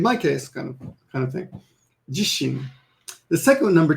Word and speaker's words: 自身: So the first one is actually pronounced jishin, and that means myself.